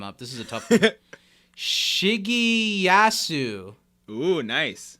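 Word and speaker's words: Shigeyasu: this is a tough shiggy yasu oh nice it's s-h-i-g-e-y-a-s-u you nailed it shig e yasu nice but that's a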